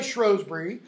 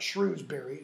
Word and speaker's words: Shrewsbury: and a bloody field by Shrewsbury that's how it's pronounced it's not Shrewsbury shrubbery then a bloody Vic